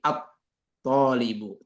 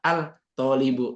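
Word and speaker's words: الطبيب: hurufnya tapi dibacanya asayarat thibun itu huruf tho itu termasuk dalam tajwid kan itu bagian dari eh asyamsiah jadi at thibu tidak Al thibu enggak tapi at thibu gitu ya Nah gitu cara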